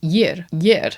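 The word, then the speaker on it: ég: I is yer, which is not spelt as how I would necessarily. I guess the G is a U, like ew.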